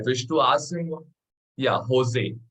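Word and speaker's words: José: to pronounce him as Jose Jose I wish to ask him yeah Jose that J is pronounced as H I wish I could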